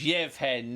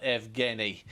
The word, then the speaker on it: Yevhen: we are aware that these are Ukrainian pronunciations so it's yevhen not evi and it's Surge and not